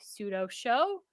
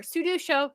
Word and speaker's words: Sudo Show: find other great shows like pseudo show or sudo show sorry Bill I know you're in the chat I said it wrong I'll do better next